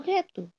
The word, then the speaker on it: gâteau: Both are pronounced like O in the English word boat. Okay. So let's take an example in French. For un gâteau. gâteau.